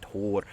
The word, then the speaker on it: Thor: When you say Thor, it's supposed to be Tor.